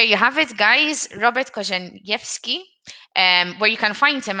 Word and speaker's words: Korzeniewski: Robert Korzeniewski.